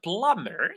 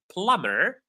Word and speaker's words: plumber: The plumber the B is silent.